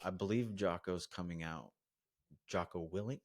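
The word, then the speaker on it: Jocko Willink: Joo guy like I believe joo's coming out Joo willink Y is that how you say it yep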